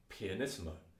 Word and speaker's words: pianissimo: more extreme for example you can have two ps and that's pronounced pianissimo just means more quiet